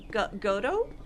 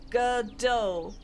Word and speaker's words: Godot: Godot? Godot? In Polish it's just Godot. Godot? I think? Blender Arc Real! Someday. Someday, maybe. Yes! Godot.